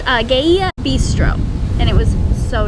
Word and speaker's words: Gaia: We ate at Gaia, is how it's pronounced. Gaia bistro, and it was so delicious.